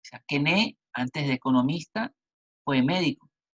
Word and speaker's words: Quesnay: La palabra circulación económica la llega a plantear el más importante de los fisiócratas, que es François Quesnay, que se escribe Quesnay, ¿no? François Quesnay o Quesnay, el cual junto con Turgot se consideran los dos principales pensadores fisiócratas.